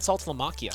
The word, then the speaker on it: Saltalamacchia: I'm going a little salty here with Jared Saltalamacchia. Oh.